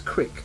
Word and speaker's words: creek: So they say things like pronouncing creek as crick and wash as wash.